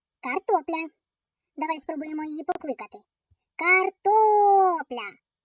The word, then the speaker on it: Картопля: Картопля. Наголос падає на звук о.